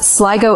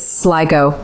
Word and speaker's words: Sligo: First up, Sligo is Sligo, not Sligo.